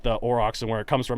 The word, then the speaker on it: Aurochs: I believe it is pronounced Auroch. Yes, I recant that. It is Aurochs. Good on you. And here's why it is Aurochs. It comes from the Greek. It comes from Greek and German.